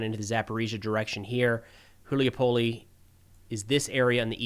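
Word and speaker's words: Гуляйполе: further west here to Gulyaipole. I got some guidance on how to say that this week, and I feel like I'm still going to say it wrong. Not Gulyaipole, but Gulyaipole.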